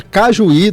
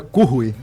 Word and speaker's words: Cujuí: A pronúncia em espanhol é Cujuí, Cujuí.